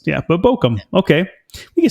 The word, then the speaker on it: Bochum: And also, heads up, Bochum is how you say this. Way Bochum. Simpler than I thought.